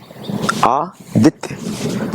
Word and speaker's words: आदित्य: आदित्य सूर्य का नाम है, विष्णु का नाम है ना।